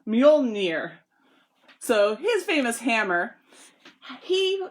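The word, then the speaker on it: Mjölnir: It's so hard to spell that in the document I even spelled it out phonetically. So it's Mjolnir.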